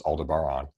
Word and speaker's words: Aldebaran: the LMC to Aldebaran, which I think is how you pronounce that one. I always want to say Alderaan, but of course it's Aldebaran.